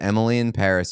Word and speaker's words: Emily in Paris: Friendly reminder, Emily in Paris is supposed to be pronounced with a f French accent, so Emily and Paris rhyme.